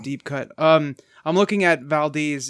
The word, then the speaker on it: Valdez: was i said as Valdez in parentheses they spell the pronunciation and it's they spell it v al - Dez exactly exactly so